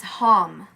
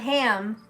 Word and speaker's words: Ham: For the throat, it's hum. Not ham, but it's spelt like ham. But it's hum.